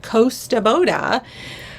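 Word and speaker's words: Kosta Boda: someone the Costa Boda someone corrected me in the comments and said this is pronounced Costa Boda um I remember I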